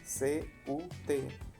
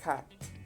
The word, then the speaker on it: cut: Por ejemplo, cortar, C-U-T, no se pronuncia cut, se pronuncia cat, cat.